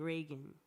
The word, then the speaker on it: Revgan: You still pronounce it Reagan, but it's just with an upside down A, because Rev also means dream in French, and I like that.